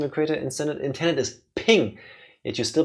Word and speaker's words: PNG: According to Wikipedia, the official pronunciation of creator intended is ping. Yet you still pronounce it as PNG.